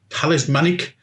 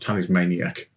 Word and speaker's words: talismanic: This time with a grade weapon talismans of talismanic tattoos. I think that's how it's pronounced. Talismanic is not talismaniac.